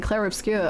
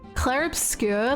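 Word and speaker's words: Clair Obscur: think about it and he was saying clear obscure and I was like have I been saying it wrong this whole time and he was like yeah I didn't want to say anything and I was like okay here it's just like cla obscure like has like a really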